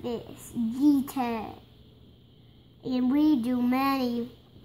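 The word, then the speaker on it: jeté: Jete.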